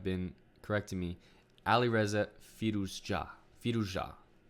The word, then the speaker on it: Firouzja: Firouzja. The accent has to be placed on the last part of the word, unless those people were trolling me. But I think that's how you're supposed to pronounce it.